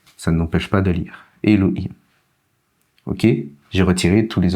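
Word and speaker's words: אֱלֹהִים: Elohim, le signe ici, n'y prenez pas garde, ça n'empêche pas de lire. Elohim.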